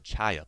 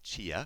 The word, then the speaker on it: chaya: It's called the chaya plant, not chia, Okay. but chaya.